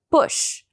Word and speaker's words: push: Boot não é esse u. É um u um pouco mais curto. Então fica push, push, bush. Bush. É o mesmo som de book. A palavra livro a gente não fala book longo, assim, a gente fala mais curto, a gente fala book. Book. Soua quase como um O, mas não é um O. Entre um U e um O.